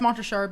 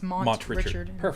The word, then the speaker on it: Montrichard: Yeah, it's Montrichard but just to spell it out it's Montrichard.